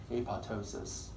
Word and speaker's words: apoptosis: All those digestive enzymes will destroy the cell ultimately, called apoptosis. Apoptosis, pronounced apoptosis, second P is silent, which is programmed cell death.